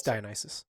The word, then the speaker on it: Dionysus: Like, I think Dionysus, like when you, because I have him like, all right, is that how you say it? I can't remember. Yeah, it's Dionysus.